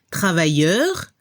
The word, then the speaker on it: travailleur: La pronunciación para el masculino se escucha un poco la R al final, travailleur, y al femenino se